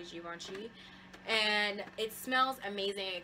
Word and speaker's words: Givenchy: Dahlia divine by Givenchy I'm saying it correctly Jiwon chi and it smells amazing it kind of reminds